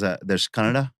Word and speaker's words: Kannada: So there's Kannada is one language. But it's spelled Kannada.